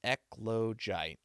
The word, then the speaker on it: eclogite: Okay, so we got uh, eclogite is eclogite. Okay, so that's how I would pronounce that.